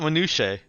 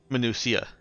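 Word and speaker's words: Minucia: of uh minua F not not minche minua like m i n u c i a The Greek pronunciation yeah something like that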